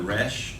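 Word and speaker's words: ריש: same sound and then the resh or the race however you choose to pronounce it it's just an r that one's pretty easy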